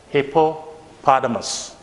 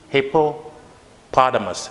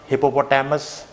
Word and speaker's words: hippopotamus: would be this one there are actually three syllables hippopotamus this is how you have to pronounce this word hippopotamus it's not hippopotamus sometimes we used to mispronounce it like that